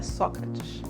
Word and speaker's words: Sócrates: de lado ele disse olha pronúncia certa é Sócrates Mike olhou para ele